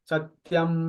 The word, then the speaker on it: सत्यम: हाथ रखते हुए और सत्यम मतलब की म को लंबा खींच सत्यम इस तरह से वाइब्रेट